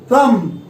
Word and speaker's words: thumb: THUMB, थम, THUMB, थम। ये जो आप देख रहे हैं ये थंब नहीं है, ये थम है।